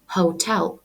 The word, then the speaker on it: hotel: У слові hotel ми робимо наголос на другий склад і вимовляємо hotel.